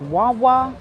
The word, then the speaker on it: guagua: bus is called the guagua but it's pronounced wawa you don't put the g in there but it's g-u-a-g-u-a or